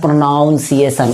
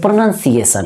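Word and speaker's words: pronunciation: भी देखेंगे आप प्रोनंसिएशन कोई कोई बोलता है प्रोनाउंस एशन इसको क्या बोलता है प्रोना प्रोनाउंस एशन मैंने थोड़ा सा आप देखेंगे तो प्रोनाउंस एशन प्रोनंसिएशन तो प्रोनंसिएशन नहीं य प्रोनंसिएशन है क्या है प्रोनंसिएशन तो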